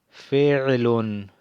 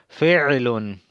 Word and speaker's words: فعل: Y tienen que pronunciar bien esa ain, porque si no pronuncian la ain y dicen, y pronuncian como prolongación de la i, dicen filun, filun, fil significa elefante, fil, así mismo, fil, fil significa elefante. Entonces, fil. Pero si ustedes pronuncian el ain bien, dicen fi'lun, ya se sabe que es verbo, pero no digan filun, porque dicen elefante.